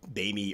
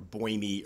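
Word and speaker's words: boehmei: The Bamey or Boimy or Bomey, whatever way you want to pronounce it, tend to be a little more vibrant.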